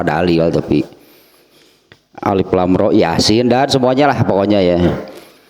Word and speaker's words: Yasin: Ini huruf hijaiyah sehingga pelafadannya seperti melafadkan huruf hijaiyah. Jadi bukan yasa gitu bacanya ini ya, bukan yasa, Yasin.